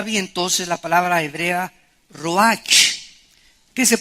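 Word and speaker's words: רוח: entonces la palabra hebrea Roach que se pronuncia Road la ch en el hebreo se pronuncia como j y que es la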